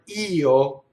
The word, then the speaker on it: io: The word io is the word for I. And a lot of pronouns, they're written as a semivowel often, but they're actually two syllables and you'll have just one note for the word, right? And the vowel gets everything, and the last vowel gets little.